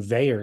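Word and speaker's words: Vaer: So we've got to address somebody's real conundrum here, and Veyer is going to help us do it.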